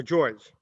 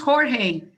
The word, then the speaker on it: Jorge: Or George? You have your hand raised. Hello? It's pronounced Jorge. It is Jorge.